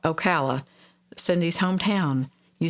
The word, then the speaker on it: Ocala: fun fun time Peter says yes so call Ocala Cindy's Hometown you said it right oh wow